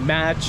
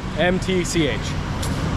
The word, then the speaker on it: MTCH: I was calling it match or matcha. I didn't know. MTCH.